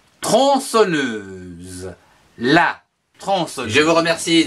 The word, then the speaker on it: tronçonneuse: La tronçonneuse, T-R-O-N, tron, C-C-D-I-L-O-N, son, N-E-U, ne, S-E-Z, que l'on prononce tronçonneuse.